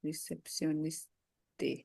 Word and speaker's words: réceptionniste: What will be the, we don't pronounce the last consonant, right? yeah, But here the last alphabet is E. E, So we will pronounce till T. T, receptioniste. Ah, no, not niste. A नहीं बोलेंगे last में Is- because there is no accent there.